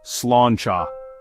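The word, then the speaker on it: sláinte: It's pronounced slanchcha.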